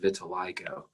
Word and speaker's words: vitiligo: something called vitiligo that's that third eye there's three eyes and that is long so it's pronounced vitiligo this is when there's